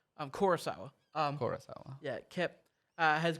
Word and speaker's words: Kurosawa: of the same movie it's funny because um kyle sawa i keep saying his name wrong i'm kurosawa um yeah kep uh has gone on interviews